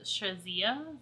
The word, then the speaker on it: Shazia: So I'm going in with SHAZIA, that's how you say it, and it's going